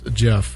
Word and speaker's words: Gef: It's such a funny thing, the Jeff, the way Jeff is spelled, GEF.